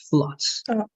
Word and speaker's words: floods: And this is an exception in pronunciation. It's going to be only floods.